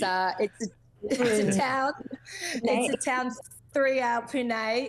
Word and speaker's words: Pune: very name who name everyone you've got to pronounce it Pune oh that's it it's uh three hour Pune it's a town about three hours north of